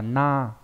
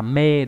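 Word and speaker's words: 名: Thì chữ danh này đọc là tên đúng không nhỉ? Đọc là gì nhỉ? Đọc là na.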